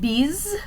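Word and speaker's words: bise: you to notice with this word bees right here b-i-s-e this is the french word for kiss and you might notice that the s in the middle of that word just kind of sounds like a z does in english so we'll notice as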